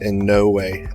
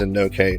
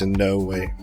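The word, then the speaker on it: Inouye: It's pronounced in no way. I thought it was in no K, but it's in no way.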